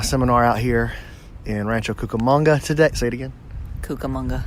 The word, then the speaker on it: Cucamonga: 365 today the adventure brings us to Rancho Cucamonga California does say it right Lyndsey Cucamonga that's